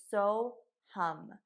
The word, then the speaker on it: Soham: sanskrit and it is so hum so hum and it is spelled at s-o-h-a-m but you say it hum like hum and all it means